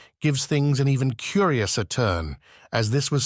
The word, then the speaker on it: Tyr: For example, we have the pagan god Tu, or Tyre, pronounced Tu, where we get our word Tuesday from.